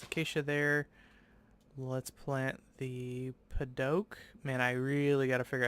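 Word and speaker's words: Padauk: The AU is like an O sound. Paddock. Not to be confused with like oak. O-A-K, oak. More like a French version.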